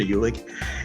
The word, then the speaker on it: Uhlig: introducing my next guest here which is Jennifer ulick and I just want am I pronouncing your name correctly is it UL or